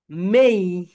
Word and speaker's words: May: সবাই বলি মে মে মে মে। মেকে ঠিক আউট করে উড়ে দাও। মে বাদ আজ থেকে।